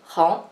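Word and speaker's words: héng: H, on prononce comme he, he, et E-N-G, c'est on. Donc, he, on, hong, deuxième ton, hong.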